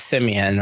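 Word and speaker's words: Symoné: She was like, it's not Simone, it's Simeon or some shit like that.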